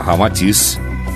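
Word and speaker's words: Ramatís: Unindo-se Rama e Atis, Sita ao inverso, resulta Rama-Atis, como realmente se pronuncia em indo-chinês. Informa Rama-Atis que após certa disciplina iniciática a que se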